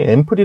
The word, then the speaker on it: ampoule: 문제가 있는 것은 아닌데 우리가 흔히 앰플이 라고 부르죠 앰플이 라고 들린다고 해서 스펠링이 ample 아니에요 원래 스펠링은 ampoule 입니다 뭐 사실 약어를 줄었을